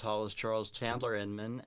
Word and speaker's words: Hollis Charles Chandler Inman: I will let Hollis pronounce his whole entire name because it is a long name. My name is Hollis Charles Chandler Inman, and I'm running for U.S.